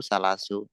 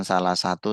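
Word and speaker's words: ثلاث: Salasu sanawatin, bukan salah satu sanawatin. Arba'u sanawatin.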